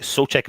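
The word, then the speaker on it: Souček: on the left su check so check sorry soul check as well uh coventry bowen on the right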